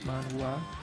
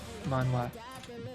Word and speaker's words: manhwa: manga, and it's called manhwa, or whatever how you want to pronounce that. It's like manhwa, HWA, manhwa. It's Korean mangas, and they